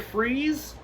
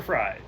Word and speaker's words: Fries: joker's appeal like mr freeze it's victor fry it's victor freeze it's spelled fries whatever it's victory that's